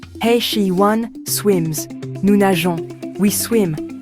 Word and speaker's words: nageons: she, one, swims, nous nageons, we swim. Notice the e before ons to keep the soft g sound.